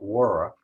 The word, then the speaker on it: water: You gotta, it's not water the way it's spelled here, but water. And you gotta flip your tongue when you say water.